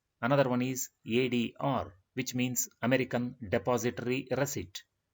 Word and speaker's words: ADR: Here we pronounce the abbreviated form letter by letter, ADR.